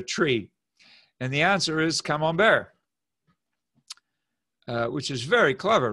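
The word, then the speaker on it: Camembert: cholesterol and okay but come on bear is how you pronounce it in french come on bear in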